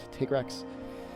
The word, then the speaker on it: Tigrex: taking down they type tigrex I guess he's officially pronounced to take Rex for this one that